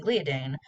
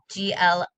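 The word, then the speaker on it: gliadin: don't contain the protein gliodine found in gluten i don't think i said that protein right it's g-l-i-a-d-i-n um glia din i think is the correct pronunciation for that protein um and dr haas's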